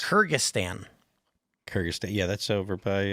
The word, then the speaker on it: Kyrgyzstan: You know, it's Kyrgyzstan.